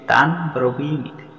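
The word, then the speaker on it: तान्ब्रवीमि ते: এখানে একই উচ্চারণ আসবে সংস্কৃতে তানব্রবীমিতে, কিন্তু তাক দন্তান্ন, এর দন্তান্নের নিচে হসন্ত আছে। কোনো ব্যঞ্জন বর্ণের নিচে হসন্ত থাকলে সেখানে স্বরবর্ণের উচ্চারণ লোপ পায়, তাই সেখানে দ্রুত উচ্চারণ করলে সেটা সঠিক হয়ে যায়। যেমন তানব্রবীমিতে তানব্রবীমিতে।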